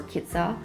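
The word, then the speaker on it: KITAS: or looking for a digital Nomad Visa or kiter that's how you say it you actually I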